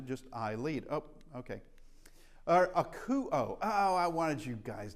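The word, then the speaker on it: ἀκούω: So we know from diphthongs, these two go together for an oo sound, as in Ruth. Oo sound. That's K. That's the hard O sound. So that's akuo.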